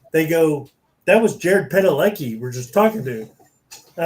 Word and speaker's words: Padalecki: Jared Yeah, Padalecki. yeah, that's how you say it. Cadillac, you know. Padalecki.